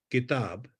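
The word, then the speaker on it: किताब: If you say something like kitab or kal, yesterday, kal, the natural, if I was an English person without any awareness of Indian languages, I would have difficulty saying that ka without aspiration.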